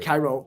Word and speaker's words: Cairo: which Cairo, Cairo. but they pronounce it Wow.